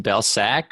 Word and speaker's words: Belcak: correct okay so it's it's pronounced Bell sack but I think we we had a similar conversation on the interview that we did where there are so many different variations these days that that it's kind of unfading no definitely Bell sack is is the pronunciation but anything works I